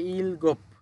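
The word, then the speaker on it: 일곱: এরপরে হচ্ছে ইলগোপ, ইলগোপ মানে হচ্ছে সাত। কিভাবে ইলগোপ হলো?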